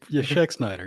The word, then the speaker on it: Schexnayder: But my guest tonight is Schexnayder. That's pretty good, Jeremy. Thank you. It's Schexnayder. You're right. Hey, I did it. You got to remember the A is silent. But, kind of.